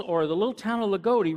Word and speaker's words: Loogootee: not from Indiana you don't know how to pronounce loogootee because it's LOL gooo ttee and everybody wants to sail agouti and the all hear from there it's loogootee it's just like if you're from Brazil in